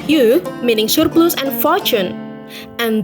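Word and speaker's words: 鱼: In the Chinese language, fish is pronounced yu, meaning surplus and fortune.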